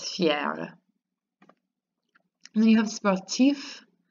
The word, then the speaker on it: sportif: And then you have sportif, you get to say that F, sportif.